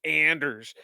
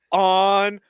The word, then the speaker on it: Anders: post game chats and you still continue to call him Anders it's oners he not a Star